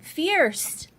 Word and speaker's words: Fierst: People a lot of times don't know how to pronounce it. And I say, just think of mighty and fierce.